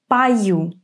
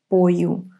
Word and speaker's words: пою: Remember, when о is unstressed, we pronounce it as а. So, this is пою, not пою.